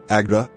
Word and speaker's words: AGDA: It pronounced Agda as a word, Agda.